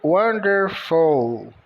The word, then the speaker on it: wonderful: eles e maravilhoso Wonderful o w com o som de u são muitas as vezes em que o W tem o som de u o o com o som de a n de n d de D e de e r de r f de f o u tem um som de o o l tem o som u misturado com l então maravilhoso Wonderful carro